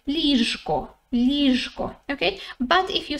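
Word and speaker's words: ліжко: say okay if you say it slowly you pronounce the letter zhu in the middle properly right you say lisko okay but if you say it quickly it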